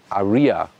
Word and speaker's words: Ariya: for a German Market when you say Arya in German that's the exact pronunciation of Aran and that is of course another good combination for a car on the German market so the Germans then in their Market try to say rather Aria so it's differently pronounced and there's no you